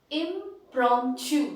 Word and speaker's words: impromptu: and then we have impromptu impromptu that is the pronunciation in latin the the meaning of